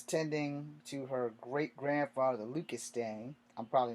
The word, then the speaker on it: Stang: Anyway, meanwhile, a young woman named Emily Stang was tending to her great-grandfather, Lucas Stang. I'm probably not saying it right, but S-T-A-N-G, like strange without the R and without the E.